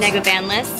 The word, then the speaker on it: Negovanlis: Negovanlis. Negovanlis.